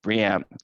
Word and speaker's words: BREEAM: And so the way I remember it for my own sake of mind is that you combine brie cheese and will.i.am from bucket peas together make BREEAM, and not BREEAM.